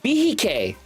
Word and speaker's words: Behike: Behike. It's a Cohiba Behike is how you pronounce it.